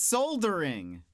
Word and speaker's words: soldering: Um, but a silent L. Oh, boy. It's It's soldering.